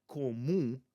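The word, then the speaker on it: comum: Now, in a word like común, there's two om, um. That first m, I have to press my lips on that to create the next part of that, but that last m, I'm not going to press my lips on that one, right?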